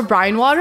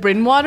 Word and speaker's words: Brine Water: See, the reason I remember Brine Water is because Barry pronounced it Brin Water and I couldn't unsee it.